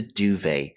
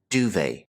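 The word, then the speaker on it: duvet: European countries is the duve this is a French term so we don't pronounce the T here duve getting back to clothing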